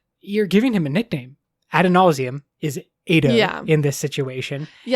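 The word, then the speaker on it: Adonalsium: Brennan says Adonausium. Which probably changes the pronunciation, or at least for me. I would say Ba Edo Mishram, and I would say Adonausium. That's just me.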